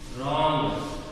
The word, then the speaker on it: wrong: Wrong. Wrong. Wrong in the wrong. W is silent.